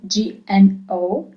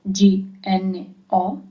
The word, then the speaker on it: gno: So G-N-O is gno as a sound, gno. G-N-A is gna as a sound, gno, gna.